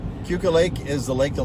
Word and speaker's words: Keuka: we are driving around keuka lake lake i keep saying it wrong cuca lake is the lake